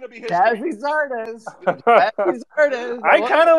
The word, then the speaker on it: Gyasi Zardes: You realize this is Gyasi Zardes.